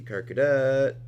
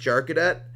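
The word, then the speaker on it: Charcadet: fire uh let's see car Cadet okay there we go I know it's probably pronounced jar Cadet however that sounds so awkward to me and oh it doesn't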